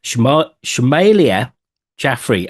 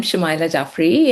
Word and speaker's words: Shumaila Jaffery: I'm Rob Watson and this is a Desentered Media podcast and today I'm joined by Shima Schmealia Jaffrey and I did say I get your name wrong because I always do.